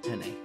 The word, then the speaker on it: penne: the last week's uh penis in vodka were absolutely ungodly I've decided that I will not be putting mine in there anymore first as the French person on the panel that is pronounced penne oh of course we